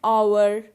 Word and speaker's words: hour: an honest man, an hour. Now notice the word hour and honest. So in both these words, H is silent.